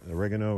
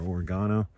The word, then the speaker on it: oregano: um marjoram i know so oregano or oregano depends on your pronunciation um some holy basil